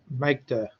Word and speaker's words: mkdir: The next command we're going to learn about is called makedir, which is short for make a directory, and the way that is spelled is mkdir.